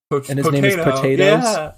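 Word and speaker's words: Pot8os: horse name is p it's spelled p T8 o potatoes that's so good that's pretty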